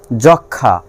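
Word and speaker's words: যক্ষ্মা: যক্ষা, ক্ষীয়র সঙ্গে ম আছে, এখানে ময়ের উচ্চারণ হবে না।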